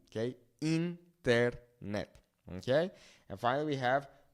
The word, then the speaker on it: internet: It's not internet, it's internet. Remember that the I in Spanish makes that E sound, right? A, E, I, O, U, okay? Internet, okay?